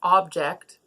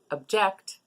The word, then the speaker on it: object: we pronounce the word object like I just did where we put the stress on the first syllable object then we are talking about the noun but if we say object where we put the